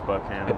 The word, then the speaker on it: Buchanan: So, it's spelled Buchanan, but everyone says Buchanan.